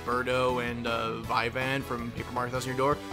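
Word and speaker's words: Vivian: like Berto and uh Vian from paper Mark th door I know we name is viven I pronounce as Vian we'll get on that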